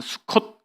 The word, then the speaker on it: 수콧: 떠나서 머문 곳이 수꽃 우리말로는 수꽃이 이렇게 돼 있는데 히브리어 발음하면 수콧 있니다 수컷 이것이 바로 막이라고